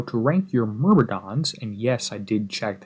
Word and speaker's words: Myrmidons: going to show you how to rank your mmons and yes I did check that's how it's pronounced in the level 50 vxp targets hey